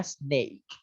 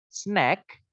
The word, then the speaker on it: snake: Sebenarnya snake. Kalau kita mau tulis mungkin kayak gini. Snake, snake. Ya, snake. Kalau teman-teman bacanya snack, snack, snack yang ini, maka artinya adalah camilan.